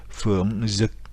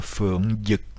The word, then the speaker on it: Phượng Dực: Donc les Vietnamiens du nord vont prononcer cela comme Phượng Dực, donc on sent bien le Z, alors que les Vietnamiens du sud prononcent le D sans barre horizontale comme un Y, donc comme un double L des Espagnols.